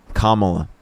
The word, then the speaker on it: Kamala: Kamla.